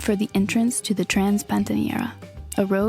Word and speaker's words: Transpantaneira: now we're on the road heading towards the Transpantaneira. Is that how you say it? Yep. Yeah, now we just need to get to the beginning of the Transpantaneira, and then the road should probably get more slow.